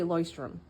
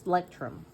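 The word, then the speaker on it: Leuchtturm: I don't know how to say this actually. I thought I heard people say Loystrom, but apparently it's Lectum.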